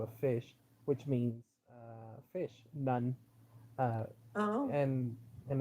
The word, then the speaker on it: Nun: fish, which means fish, none. Uh, Oh. and and it's spelled like the way you hear it, none, like like a Catholic nun.